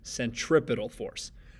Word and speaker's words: centripetal: Note the spelling there, note how it's pronounced, centripetal force.